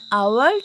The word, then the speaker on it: hour: The last one, Akash takes an hour to go school. Because why? Because H is silent in this word.